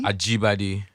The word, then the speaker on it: Ajibade: Ajibade. Ajibadi. Yeah, Ajibade. It means born to the crown. Like born to the crown. Like, yeah. Ajibade.